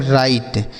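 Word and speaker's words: write: राइट। यहां पे बच्चों डब्ल्यू साइलेंट है। मतलब इसे नहीं पढ़ा जाएगा।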